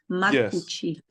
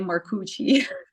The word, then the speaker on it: Marcucci: full name so uh if I would just pronounce it the Italian way it's makuchi that's my name and for the americ is like and my last name they say maruchi I appreciate you